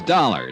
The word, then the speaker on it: Dollar: buzz i didn't it's dollar johnny dollar dollar huh yeah rhymes with collar i always like to